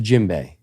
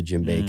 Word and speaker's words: djembe: Boom, and that's a djembe. And so djembe. Yeah, it's called the djembe. I think I'm pronouncing that right, but Jimbay.